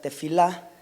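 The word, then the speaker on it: תְּפִלָּה: La oración, según el Strong, es la palabra 8605, que se pronuncia tefilá.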